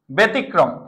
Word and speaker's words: ব্যতিক্রম: আমরা কি বললাম বেতি ব্যতিক্রম ব্যতিক্রম কি হবে জফলার পরে রস্বীকার আছে তাহলে কি হবে বল বেতিক্রম ব্যতিক্রম ব্যতিক্রম ব্যথিত জফলার